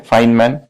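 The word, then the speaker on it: Feynman: तो ये टेक्निक है, इसको कहते हैं फाइनमैन टेक्निक, ठीक है। फाइन, ये इसका प्रोनाउंसिएशन है FAYN है, पर प्रोनाउंसिएशन है फाइन, ये MAN मैन, फाइनमैन टेक्निक।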